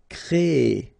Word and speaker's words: créer: Créer. So it's quite interesting, sorry, here, because first you will have this C-R-E accent aigu, so you get the créer sound, and after that you get this E-R sound, so E.